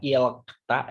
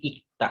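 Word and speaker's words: 읽다: Nah, ingat, ketika dia satu seperti ini dibacanya bukan ilkta ya, tapi ikta langsung ke giok ya.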